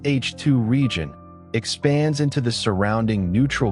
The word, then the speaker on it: H II region: In photographs, the region of ionist hydrogen around a hot star called an H2 region, pronounced H2 region, expands into the surrounding neutral gas as the star continues to ionize its surroundings.